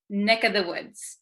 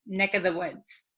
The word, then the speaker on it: neck of the woods: So also when we say neck of the woods, usually this of, the V sound kind of disappears because V's are hard to pronounce. So we tend to say neck of the woods, neck, this of becomes